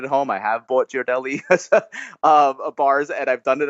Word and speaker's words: Ghirardelli: I looked up how to say it, how to pronounce it, and we're both wrong. Okay. It's Ghirardelli.